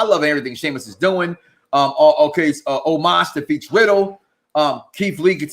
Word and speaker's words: Omos: You got AJ and Almost going. Oh shit! I said his name wrong. Omos gonna win.